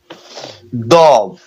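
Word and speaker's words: ضاد: Dod. Dod. Dod. And Dod. which spell, please? D-A-W-D. Oh, which name pronounced Dod.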